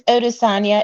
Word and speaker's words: Odesanya: Yes, it's Odesanya. It's Nigerian.